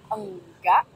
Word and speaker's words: enggak: I think a lot of foreigners struggle with the sound. The ung sound?